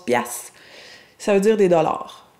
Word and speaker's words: piastre: » Premier mot, particulièrement québécois, donc hein, les piastres, qui est une ancienne unité monétaire, au Québec, on prononce piastres, ça veut dire des dollars.